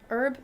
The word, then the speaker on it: herb: You can put like a little like herb crust. Herb. All right. How do you pronounce that?